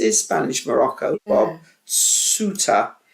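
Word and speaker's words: Ceuta: Bob Suta. When I first saw the name of it, I pronounced it Quetta, but it's not. It's actually pronounced Suta, apparently.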